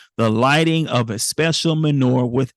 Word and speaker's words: menorah: When it came time to relight the menorah, menorah.